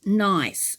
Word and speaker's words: Gneiss: we're starting off with a tangle called nice and it's spelt g n e i double s now this tangle starts